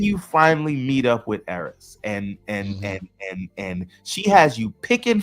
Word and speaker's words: Eris: He's not Eris, it's Eris.